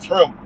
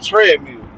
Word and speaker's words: Trimble: It's Trimble. I I'll call her treadmill. Yeah, but Trimble Yeah, man.